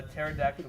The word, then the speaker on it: pterodactyl: can't you hear a pterodactyl go to the bathroom because the P is silent what you call it